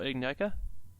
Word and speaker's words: Ignika: Ignica. Like, However the heck like- it's pronounced.